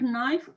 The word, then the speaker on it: knife: they ate meat egg knife knife knife silent k nice okay they eat